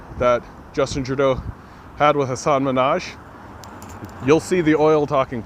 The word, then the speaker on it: Hasan Minhaj: his name that's a group that's brutal i butchered his name assad minaj that's it I did it go watch that interview that Justin Trudeau had with Hasan Minhaj you'll see the oil talking points you'll see